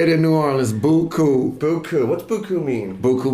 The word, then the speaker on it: Beaucoup: Beaucoup.